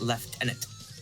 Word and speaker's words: lieutenant: Frank has to be not Lieutenant but leftenant leftenant leftenant leftenant is literally just Lieutenant but the way that they pronounce it is so stupid um left inant like